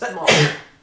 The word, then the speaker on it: Smaug: This is my favorite incarnation of Smaug, by the way. And I know it's technically pronounced Smaug, but I don't care. I still call him Smaug, because this game calls him Smaug.